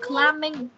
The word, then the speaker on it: climbing: Từ này đọc là climbing. Climbing. Cái âm bờ này này là âm câm. Mình sẽ không đọc âm bờ. Nhá. Chữ bờ này sẽ mất đi.